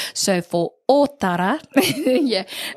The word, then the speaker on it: Ōtara: Ōtara. Hey. There we go. Hey. So remembering that Ōtara has on the O, there is a macron or tohu tō.